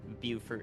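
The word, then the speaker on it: Beaufort: together but you know the Port Royal and Bower area buur area sorry I got the pronunciation now uh is in the line of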